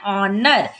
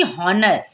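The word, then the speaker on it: honour: तो क्या पढ़ते हैं ऑनर ना कि हनर क्या पढ़ते हैं ऑनर यहां पर पढ़ते हैं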